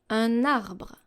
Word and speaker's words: un arbre: For the N sound, we have, for example, un arbre, un arbre, un arbre.